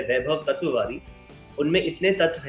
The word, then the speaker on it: Tatwawaadi: बाद क्या बोलेंगे because I have heard hell lot of surname का प्रोनाउंसिएशन, तत्ववड़ा, तत्वाड़ी, बट आपने परफेक्ट कहा, तत्ववादी। चलिए, थैंक यू सो मच।